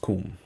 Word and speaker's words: Qom: So, it's actually pronounced Qom. Court in Qom.